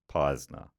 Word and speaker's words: Peisner: Your long-time listener, Peisner, pronounced Peisner, which I nailed, aka the last lick of Los Angeles and the keeper of the lost lore.